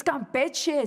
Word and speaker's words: Campeche: So I think one night I said Campeche instead of Campeche. Phone would ring off the hook. It's Campeche, sinvergüenza, sellout.